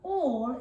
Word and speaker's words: all: And all is spelled A-L-L. So that A and L is a bit tricky because it makes an all sound rather than the A and all that it would usually make.